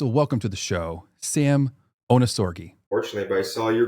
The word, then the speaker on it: Ohnesorge: your last name onori so it's actually German like the German onori yep the German pronunciation is onori and it means without worry so no worries hakun